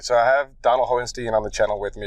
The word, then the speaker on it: Hohenstein: My name is pronounced Hohenstein. Hohenstein.